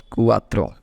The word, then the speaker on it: cuatro: pronounced with it's vowels okay so 4 is pronounced as cuatro now let's see five 5 is called Cinco